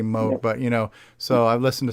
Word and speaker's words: Moog: Moog, actually, it's pronounced right. Moog. We say Moog here, but it's actually Moog.